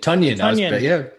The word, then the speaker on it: Tonyan: I was like, why didn't you say it rhymes with onion?